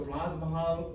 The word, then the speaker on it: Raaz Mahal: and some people already know that right so Raj Mahal rhymes with the Taj Mahala the famous uh the